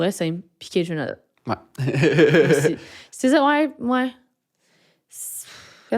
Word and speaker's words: SZA: SZA, c'est même pas le prononce?